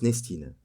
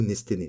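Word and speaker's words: Nestene: Les Autons sont surtout, par définition, des fragments de la conscience nestine. Ou nesténée, ça dépend comment vous les prononcez, une conscience mère, qui contrôle le plastique de manière générale.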